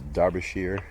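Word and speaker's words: Derbyshire: like the town of Derby D RB is pronounced Derby Derby Darby derish sheir is darbishire so you know uh you don't find out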